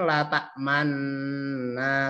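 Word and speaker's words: لا تأمنا: Man nah seperti itu Jadi kita bacanya Kani aslinya kan la ta'manna seperti itu geh dengung latah Man nah linknya itu di tengah-tengah Ada apa namanya bibirnya itu di menolong kande Bapak Ibu di monyong kan atau mencucuk isyarat rumah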